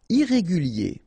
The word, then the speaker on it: irrégulier: Irrégulier. Okay, remember, IER at the end of your word here, it will be IE, okay? Irrégulier. Irrégulier. Irresponsable.